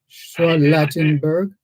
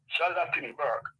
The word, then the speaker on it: Charlottenburg: place Mijam, but it was formerly known as Charlottenburg, which Henry Morgan gave to his wife. Charlottenburg. What's the name? I didn't get the name. Charlottenburg. Schwallattenberg. Not are you or is it Schwallenberg?